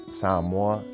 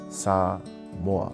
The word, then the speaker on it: Samoa: And another thing I would like people to understand is that when you see the word Samoa, to pronounce it properly, Samoa. And a lot of people will say Samoa, and you hear that